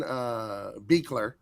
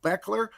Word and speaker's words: Beekler: Beekler. I asked him. Mm-hmm. I said, is it Beekler or Beckler? And he said Beekler.